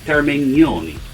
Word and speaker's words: Termignoni: your information my friend said that this is pronounced termignoni okay you heard it here first or maybe